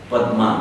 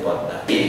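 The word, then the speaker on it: পদ্মা: We write Padma, but say Padda.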